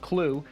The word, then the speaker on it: CLU: command launch unit or clu pronounced clue as in you have no clue how big this explosion is going to be